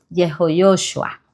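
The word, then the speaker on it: יהושע: Entonces ahora su nombre, la pronunciación correcta en hebreo de su nombre es Yho Yoshua que en español sería Josué.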